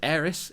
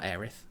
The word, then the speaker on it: Aerith: not change this and it is heiress it's not aerith i'm sorry yeah i was also going to say like we all got heiress wrong because the localization